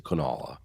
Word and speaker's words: Kanawha: she says she's from kanawha county yeah it's we we say or actually i actually say kanala i actually put a little w in there instead of canal